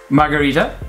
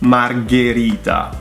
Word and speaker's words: Margherita: Margherita. It's Margherita. Margherita. G. Margherita. So G H is G. G. The same way C H is K.